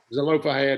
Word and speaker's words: Zelophehad: Zelophehad is how you say it.